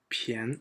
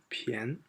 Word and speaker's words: 便: This is 变 for all other three, and this is 便, sorry, that should be second tone, 便.